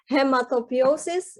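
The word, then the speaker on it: hematopoiesis: Little did I know that it's actually, so this is difficult to pronounce. It's hematopiosis, immunity, and modulation.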